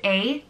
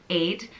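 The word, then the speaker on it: Áed: I think some people do pronounce the D, I guess, depending on where in Ireland you're from, so it's either A or Aid.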